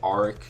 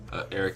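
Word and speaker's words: Aric: His name's, it's pronounced Eric, but I was saying Arik, so sorry about that.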